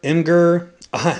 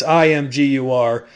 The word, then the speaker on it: Imgur: probably going to butcher this but uh mger imer it's Imgur I probably didn't say it right either way